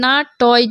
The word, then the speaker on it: নাট্য: নয়কার না টয় জ ফলা, তাহলে টর সাথে যদি জ ফলা থাকে তার উচ্চারণটা কেমন হবে?